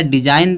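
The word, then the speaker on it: design: क्या आया, जी आया, तो जी क्या होगा, साइलेंट। रेन में होता शासन। फिर यहाँ दिया डिजाइन दिया है।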